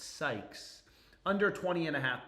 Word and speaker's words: Sykes: Be careful of your pronunciation on her name. It's Sykes.